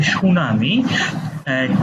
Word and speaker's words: tsunami: Choose the correct spell word of the following, এখানে সঠিক যে বানানটা রয়েছে সেটা কোনটা, সেটা হচ্ছে সুনামি, TSUNAMI, সুনামি। এটা মনে রাখার জন্য আপনারা টি সুনামি শব্দটা উচ্চারণ করতে পারেন।